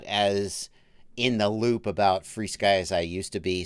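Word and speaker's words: FrSky: Mike MC, it's pronounced FreeSky.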